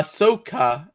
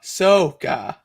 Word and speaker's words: Ahsoka: problem what i am there's an h in there that i'm not pronouncing yeah there's an h it's spelled a h a-h-s-s-o-k-a uh soca okay asakutano let's do